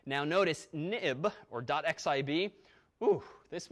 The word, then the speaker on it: xib: application now but also this xib file pronounced of course nib ni b for historical reasons it went as soon as the nib file became an xml file then renamed it XIB but we still say nib now notice nib or